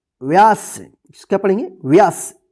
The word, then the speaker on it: व्यास: व का, तो व या स, व्यास। इसको क्या पढ़ेंगे? व्यास। व पे जल्दी उच्चारण हो जाएगा, व्यास।